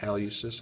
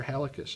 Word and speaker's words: hallucis: so this is the flexor hallucis longus or flexor helices longest depending on how you want to pronounce it this muscle over here